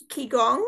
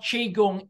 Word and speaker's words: qigong: Okay, well, while I think of that, let's move on to qigong. Is that how you pronounce it?